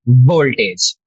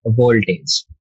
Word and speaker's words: voltage: pronunciation of voltage was voltage you have to uh press your lips you have to press your uh teeth to your lower lip and say the not voltage like a lot of